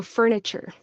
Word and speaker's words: furniture: So furniture, the TU. Often it turns into a CH sound. So furniture, furniture, furniture, furniture, furniture.